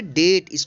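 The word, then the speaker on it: debt: लिखेंगे ध्यान रखिएगा लिखेंगे बीडीओ एमबी लेकिन इसका उच्चारण होगा अब इस बम तो आइए देखते हैं कि डीओईएसएनटी इसको पढेंगे डेट्स को डेबिट नहीं पड़ेगा क्या पढ़े के डेट डेट मिल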